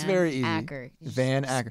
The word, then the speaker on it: Van Acker: You know what's funny is people will say it, and I don't understand how you can say Ackerman. Like, I don't know how you can say Acker.